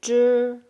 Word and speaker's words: 汁: So Z we pronounce Z and ZH we pronounce Z. A little bit like in English DR pronunciation, driving or something, we say 知 and then this E doesn't make E sound. It's only for here, carry the tones.